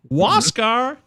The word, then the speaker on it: Wascar: and oh i got it wascar e noah wascar that's cool this pronunciation guy's tremendous thank you so much shout